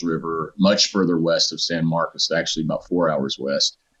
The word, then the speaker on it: San Marcos: It sounds like And you keep saying San Marcus. I've been saying San Marcos. So that's how locals You said you're you've been naturalized, right?